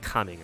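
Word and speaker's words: Xianyun: the guy named cing I know his name looks like gaming but it's pronounced coming or something um they were they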